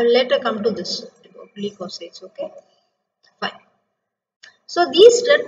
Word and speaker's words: leukocytes: White blood corpuscles are otherwise called as leukocytes. How do you pronounce this? Leukocytes. L-E-U. Leukocytes. C-Y-T-E-S sites. Okay.